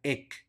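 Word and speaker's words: haec: suena como e ec la H es muda por lo tanto esa palabra se pronuncia ec luego tenemos una y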